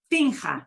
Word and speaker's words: finja: Fingir has a ha sound. I can't get a ha sound with a ga when I switch that vowel. So they do a spelling change here. Finga. Finja.